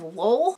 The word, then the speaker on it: Lowell: tiny, in Lowell, Massachusetts, that is Lowell. Feel like spelling it is necessary because New England town names make no fucking sense. I think the proper pronunciation is Lowell.